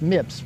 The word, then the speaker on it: MIPS: It's pronounced MIPS, Multiple Impact Protection System.